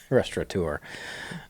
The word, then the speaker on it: restaurateur: And, Danny Meyer, the restaurant, famous restaurateur, spell that, restaurateur. I had to look that up twice. Restaurateur? Restaurateur. I don't think there's an N there. Maybe there's an N in there.